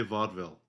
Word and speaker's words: Vaudeville: vaille plural I just I just say Vaudeville I don't pronounce the E I don't pronounce the e in Vaudeville no I'm talking about the